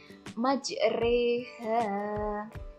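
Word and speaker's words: مَجْرٰىهَا: Kemudian untuk yang B majreha ini menurut aku tepat temen-temen ini cara membacanya seperti itu imalah Ini bacaan dari imalah ya jadi memiringkan atau membengkokkan jadi-jadi bacaan ro ini diganti dengan Ris seperti bacaan Rich majreha jadi jawabannya adalah yang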